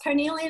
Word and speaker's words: carnelian: Yes, carnelian is one we were talking about earlier.